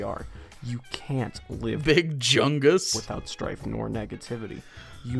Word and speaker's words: Jung: swiss psychiatrist and psychoanalyst how do you say his name carl jung he should have made me google carl jung dude i can't believe you said hard j there dude be yourself